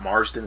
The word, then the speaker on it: Marsden: I actually tried to look this up, how much total screen time Scott Marsden, is how you pronounce his last name, got in the entire